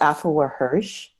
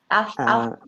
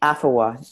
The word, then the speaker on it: Afua Hirsch: Can you say Her name is Afua Hirsch. Afua Afua, Afuwa, Hirsch, Hirsch, and the name of the book is Brit.